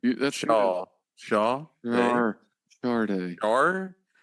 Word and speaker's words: Sade: of her records is sha day and in parentheses it's like pronounced and it's actually Shard there's an R sound in there I say Shard but